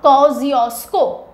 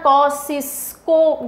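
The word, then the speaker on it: Kosciuszko: the mountain is mount कोजियो स्को कैसे pronounce करते हैं इसको कजियो स्को स्पेलिंग के हिसाब से मत जाना वरना कसिस को जैसा कुछ प्रोनाउंस करोगे कोजियो स्को माउंटेंस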